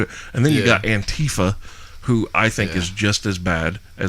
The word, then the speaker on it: Antifa: Antifa is how you pronounce it? Antifa. Yeah, It's it's Antifa. anti-fascism. I thought it was anti-fa.